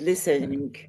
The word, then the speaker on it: listening: And here there is no sound between silent or consonant letters. You have to say listening.